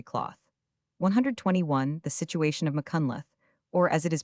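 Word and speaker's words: Machynlleth: The situation of Mccunath or as it is pronounced by the Welsh Mahunlth is extremely romantic.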